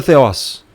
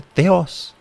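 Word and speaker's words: θεός: Theos está aqui, é pronunciado teos mesmo.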